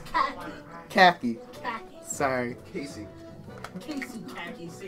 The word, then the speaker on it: Cacy: It's pronounced Cacy.